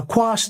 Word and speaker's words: quash: Now, quash rhymes with squash, but they're spelled differently, but it's basically, "Hey, stop this."